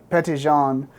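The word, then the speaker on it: Petit Jean: um and that's how she got the name pet Jean but uh p petan is how they pronounced it which means um Little John and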